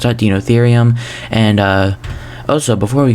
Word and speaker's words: Deinotherium: the dinotherium enclosure uh yeah that's how you pronounce that dinotherium and uh also before we go and get